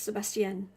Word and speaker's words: Sebastien: So, if you want to know how to pronounce it, it's Sebastien. It's French.